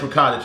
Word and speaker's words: ricotta: You're gonna need some ricotta cheese. Hope I said that right. You know, a lot of times people get you didn't say it right, whatever. It's ricotta cheese.